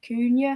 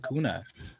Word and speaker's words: Cunha: Is it Cunha? I think that's how you pronounce it. Hakuna Matata. Cunha.